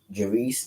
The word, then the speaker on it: Jahreese: According to the district attorney's office in New Hanover County, North Carolina, her brother on her father's side, 25-year-old Jareese, that's Jahreese Jones, was charged with first-degree murder.